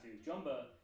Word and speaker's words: Jumba: He is a central antagonist from the first movie because Jumba was Quickly, that's how you pronounce his name.